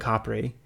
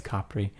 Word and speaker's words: Capri: But it's pronounced Capri. It's pronounced Capri. If you want to blend in, it's Capri. If you can do a subtle rolling of the R, Capri, Capri, then do that.